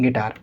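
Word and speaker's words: guitar: तो यहाँ भी यू साइलेंट होगा और इस वर्ड के अंदर भी यू साइलेंट होगा। इसको हम क्या पढ़ेंगे? गिल्ट, और हम इसको क्या पढ़ेंगे? गिटार।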